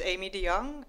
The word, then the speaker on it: Aimee de Jongh: My name is Aimee de Jongh. That's how you say. Yeah, okay. It's spelled really difficult, but it's just Aimee de